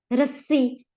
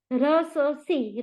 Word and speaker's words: रस्सी: है उसको हटा दिया रस्सी लस्सी बल्ला बच्चा पक्का कच्चा कच्चा क च चा नहीं है र स सी र स सी नहीं रस्सी आप अगर उसकी स्पेलिंग